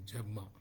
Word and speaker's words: Yerma: It is a Spanish play, and names are very typically pronounced in Spanish. Yerma, they say Jerma.